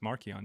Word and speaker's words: Marcion: In the second century, Marion was pronounced Marchon. You know what Marchon means?